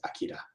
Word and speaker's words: Akira: And then the tech knows that it is pronounced Akira.